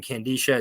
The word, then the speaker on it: Kandisha: So either way, long-winded way of saying Candisha. It's spelled Kandisha.